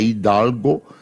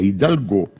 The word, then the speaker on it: Hidalgo: assim mergulho de Hidalgo eu tô dando a a pronúncia francesa ela é descendente do espanhóis é Hidalgo mas lá é Hidalgo é Marco simbólico após